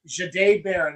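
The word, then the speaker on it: Jahdae Barron: Not a single mock, not a single mock from anybody ever had Jade Baron, and that's how it is pronounced, by the way. It's Jade. Jade Baron falling to the Broncos and the Broncos selecting him.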